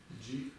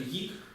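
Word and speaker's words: དབྱིག: Вы читаете неправильно в любом диалекте. Как это читается? Джик. О чем мы только что говорили? Это гик.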